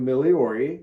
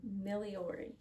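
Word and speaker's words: Migliore: by move my hand daniel miliori is his name miliori he was a theology professor at princeton seminary the g is silent that's right and he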